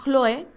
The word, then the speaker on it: Chloé: de su parentela bueno chloé en griego parece que se pronuncia cloe significa verdoso o primer